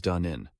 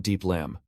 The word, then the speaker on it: Da Nin: "First of all, I want to tell everyone that my name is Da Nin, not Diep Lam.